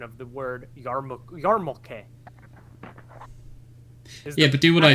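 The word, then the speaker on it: yarmulke: the actual story yeah but Google Google instead yamaka is a mispronunction of the word yarmuke yeah but do what I said what the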